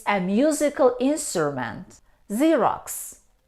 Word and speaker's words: Xerox: we say xylophone xylophone it's a musical instrument Xerox Xerox a process for producing copies of letters documents we pronounce this word see see but how do